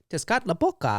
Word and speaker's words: Tezcatlipoca: Tezcatlipoca. There we go. Good job. Thanks. It's a good thing I pronounced that right.